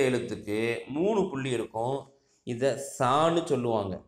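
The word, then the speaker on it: ثاء: அதற்கு அடுத்த எழுத்துக்கு மூணு புள்ளி இருக்கும், இதை சான்னு சொல்லுவாங்க. நம்முடைய நுனிப்பல், பல்லுடைய அந்த நுனி இருக்குது பார்த்தீங்களா, அதில் நாக்குடைய நுனியை வச்சு சா அப்படின்னு சொல்லணும். நம்முடைய நாக்கினுடைய நுனியை மேல் பல்லினுடைய நுனியில் வைத்து, ஓரத்தில் வைத்து சா என்று சொல்லணும்.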